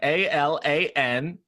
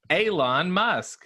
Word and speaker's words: Elon Musk: know what i mean did you pronounce that alan thank you alan a-l-a-n-m-u-s-k alan musk elon musk you know the space guy did i get did